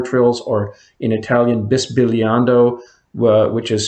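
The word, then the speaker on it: bisbigliando: they're called color trills or in italian this billiando which is spelled b i s b i g l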